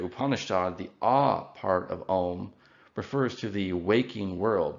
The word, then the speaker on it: Om: And this is because the letters A and U in Sanskrit, if they occur together, they form a diphthong, which is pronounced O.